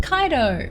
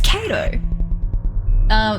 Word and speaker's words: Kato: So I would say K-to. That together, it's Kato.